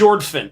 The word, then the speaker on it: Jorphdan: Jorphdan. Well, we'll link it. Okay. We'll link it. Because the PH is silent.